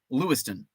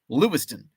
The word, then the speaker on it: Lewistown: it's spelled Lewis town it's pronounced Lewiston but you have to say it really fast like Louisville it's Lewiston lewston um